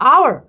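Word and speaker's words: hour: I will wait for dash आवर। आवर में क्या? एच मैंने आपको पहले बताया साइलेंट होता है। तो आवर ओ यू आर आवर्स।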